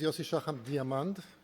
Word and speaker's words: Yosi Shacham-Diamond: You know, Noam used to say that the name is Yosi Shacham-Diamond with an A, the German pronunciation, and I'm going to